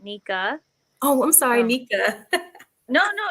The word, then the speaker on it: Nique: I mean, technically it spells Nique. Uh-huh. But yeah, I pronounce my name Nika or Dominique or yeah.